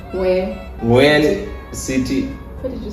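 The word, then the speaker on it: Huế: And today Okay, so today we're going to a city that is called Hue. City. What did you say? When? No, the other part, the last part should be silent. Hue.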